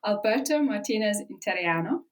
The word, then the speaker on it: Alberto Martinez Interiano: This is Voices with Rebecca Lawrence, and this week I'm joined by newly certified Italian wine ambassador, Alberto Martineziano.